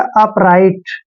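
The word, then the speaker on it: upright: हैं ध्यान रखना है टी से पहले जी एच आता है तो दोनों को साइलेंट रखना है आर आई का उच्चारण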